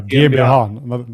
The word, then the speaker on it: GmbH: Yeah, GmbH. That's how you pronounce it, GmbH.